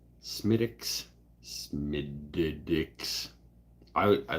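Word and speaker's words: Smithwick's: beer producer in Ireland the W is not pronounced don't tell me what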